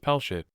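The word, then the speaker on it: פלשת: of the Israelites philistia the Hebrew word is pronounced pelshit it denotes the region of philistia an ancient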